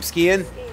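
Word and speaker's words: Skehan: Skian.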